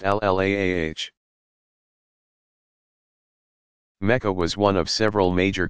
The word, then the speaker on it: Allah: the God a Lila or Allah pronounced ll aah was one of several